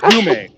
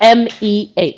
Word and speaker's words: Umeh: So it's Yume. It's Yume, Yes, right? it's It's Yume. It's not. Umeh.